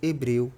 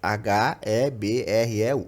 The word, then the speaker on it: hebreu: Quando a gente fala hebreu, se tirar a letra H dali, a gente tem o mesmo som.